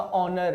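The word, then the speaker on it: honor: आवर है, फिर आपका ऑनर है, फिर आपका ऑनरेबल है। इन सारे शब्दों में समझो ये एच है ही नहीं, ये साइलेंट होता है, एच यहाँ पे साइलेंट होता है बेटा, ठीक है।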